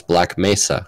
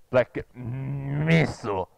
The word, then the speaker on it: Black Mesa: We know how to pronounce Black Mesa, while your G-Man actor pronounces it Black Mesa. Black Missile.